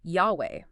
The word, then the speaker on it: Yahweh: The original pronunciation of those four Hebrew consonants, what we call the tetrogrammaton, is widely concluded to be Yahweh.